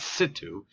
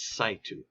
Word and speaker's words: in situ: It's not situ, it's situ.